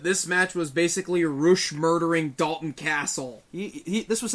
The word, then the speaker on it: Rush: to the next match rush versus Dalton castle ruch it's Roush oh my god if